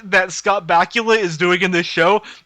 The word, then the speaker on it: Bakula: and it was like bakula you've done it again it rhymes with dracula oh my god it's